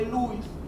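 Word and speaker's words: Luys: subtalámico o núcleo de Lewis. Lewis se escribe L-U-Y-S, Lewis.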